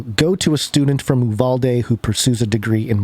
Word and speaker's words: Uvalde: notes uh from people especially in texas it's pronounced you've all day you love all day okay you have all day yeah that's apparently